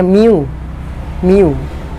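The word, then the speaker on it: μ: Jadi mikro itu dituliskan dengan lambang seperti itu, seperti huruf U, itu dibacanya mu.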